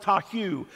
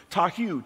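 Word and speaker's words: תֹהוּ: 8414 in hebrew which is the hebrew word tahu tahu t-o-h-u which interprets to mean formless confusion and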